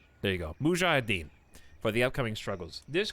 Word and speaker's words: mujahideen: the mu how do you say this chat mujahideen there you go mujahideen for the upcoming struggles this could be the